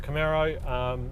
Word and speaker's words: Camaro: in the States and it actually deliberately is supposed to sound like an arrow so it really should be pronounced Camaro and yeah it's a